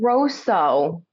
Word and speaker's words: Grosso: youngest daughter, KACEY Leigh Grosso, to our stage. She's been on this before. Yes, a Rocky girl. I know. Listen, She's a actually, Grosso. It's Grosso.